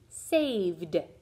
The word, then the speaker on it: saved: But I'll drop the silent E when I add my ed and it'll be saved. Hear that D sound?